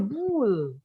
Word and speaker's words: pool: Teacher, not fool, pool.